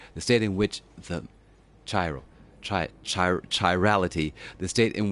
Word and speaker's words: chiral: see what Siri says Siri how do we say this word let's try that again chiral okay so chai chai row okay Thank You Siri Tyrell